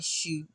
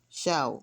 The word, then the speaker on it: shout: Well, my shoot. Hey, hey. What? I will buy the drinks. My shut. Shout. My shout. I said shoot. Well, some people pronounce it that way. But shout.